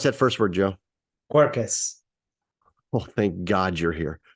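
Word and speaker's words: Quercus: main types of French Oak how do you pronounce that first word Joe cuercus well thank God you're here corkus petraya and corkus Robert which is the finer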